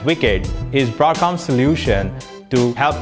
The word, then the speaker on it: WICED: connectivity for embedded devices spelled w-i-c-e-d and pronounced as wicked is broadcom solution to